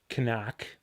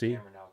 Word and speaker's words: CNOC: has got to be the canuck as it's properly pronounced cnoc because this one needs